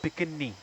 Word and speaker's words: Bikini: So, the way we pronounce bikini is pikini.